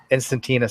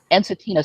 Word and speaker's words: Ensatina: I never pronounce the name of the salamanders. Instantina salamander. Ensatina salamander.